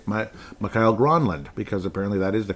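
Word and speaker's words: Mikael Granlund: Emmerich in the past would say Mikhail Gronlund, because apparently that is the correct pronunciation.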